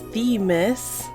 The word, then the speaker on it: Themis: So yes, I did learn how it was pronounced. It's Themis.